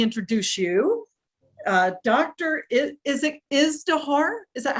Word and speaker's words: Izdihar: Is it Izdihar? Is that how you pronounce it? Yes, Izdihar.